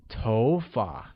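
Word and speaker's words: 头发: tone like go good hair translates as TOFA and carries a mid rising tone on Oh making it TOFA great now let's learn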